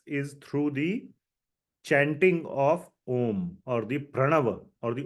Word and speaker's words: Om: is the utterance of om om has three syllables a u and M or Ma so it is composed of three sounds and that combination of the three sounds is called om and uh the contrast